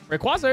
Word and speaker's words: Rayquaza: we go to misy let's figure out how it's pronounced Rayquaza r quases Rayquaza it is there you go TTS